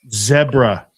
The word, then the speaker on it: zebra: Where does the Brits say zebra? Rhymes with Debra.